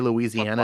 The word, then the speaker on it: Louisiana: the very fact that you say louisiana in five syllables doesn't sound like you're